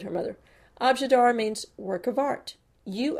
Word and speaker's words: objet d'art: then handed it to pearl this word is pronounced abjadar and i want you to say it for